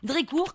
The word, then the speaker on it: Drécourt: m'appelle dricourt dricourt comme ça se prononce avec un thé à la fin et j'ai 40 ans